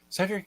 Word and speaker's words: Cedric: Cedric is actually an English name first, so you're doing great. Thank you. We just add an accent in French to get a hey sound.